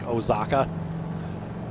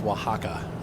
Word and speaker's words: Oaxaca: this like it's like it looks like ozaka and he's like no that's oaxaca i'm like oh okay